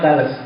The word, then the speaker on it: Thales: Kalau kamu tidak percaya, bacanya memang Thales.